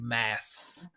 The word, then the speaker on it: math: I'll do a whole a whole episode on th but right instead of matt right math the key is hearing the air go past going through like that two very simple